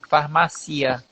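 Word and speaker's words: farmacia: Só que no espanhol parece que a sílaba tônica é mais no i, farmácia, cia.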